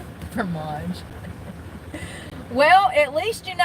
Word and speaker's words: fromage: You gotta roll that tongue.